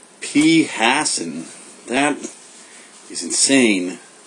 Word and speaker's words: phassin: phassin. That is insane. I had no idea that that is how you pronounce it. For some reason, I was reading it phassin the whole time.